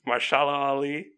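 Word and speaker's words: Mahershala Ali: still one of my favorite villains I can't pronounce my shallow alley I'm pretty sure that's how you pronounce it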